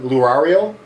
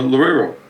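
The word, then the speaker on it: Loureiro: Uh, Mega, Kiko, I'm going to say his name wrong. I'm going to get it wrong. Lurario. Laro. Kiko Lorero.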